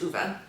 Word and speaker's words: Ove: I learned that his name is pronounced Uwe, because Fredrik Backman is Swedish.